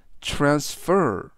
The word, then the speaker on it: transfer: 하고 싶다라는 뜻이 되겠습니다 이번 단어는 transf 이라고 발음하시면 되겠고요 이때 강세는 끝부분에 있는 알파벳 2의 강세가 있습니다 그래서 Trans이라고 발음하시면 좋겠고요 품사는 동사 뜻은 환승하다